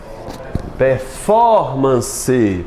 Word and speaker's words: performance: Performance. Performance. Qual é a mais forte? Fó.